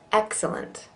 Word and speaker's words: excellent: Excellent. Excellent. Excellent. Careful, you Britons, that you don't truncate it into 2 syllables. Excellent. Excellent. It's definitely 3.